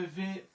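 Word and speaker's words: vous: তা আমাদের এখানে বরযাত্রী আছে হচ্ছে ও ইউ, ও ইউর উচ্চারণ হচ্ছে রস্যকার। তাহলে ভে ও ইউ মানে হচ্ছে ভু।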